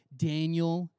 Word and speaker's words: Daniel: heard of this guy daniel not like spelled in you'll pronounce danielle but like his name is actually daniel uh there's a whole